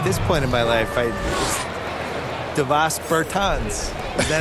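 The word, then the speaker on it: Dāvis Bertāns: Oh, well, now, at this point in my life, Davis Bertans. Is that how you say his name? Yeah. Davis Bertans.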